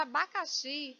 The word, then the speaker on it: abacaxi: A palavra abacaxi, ela não é acentuada, mas eu sei que a sílaba mais forte é xi.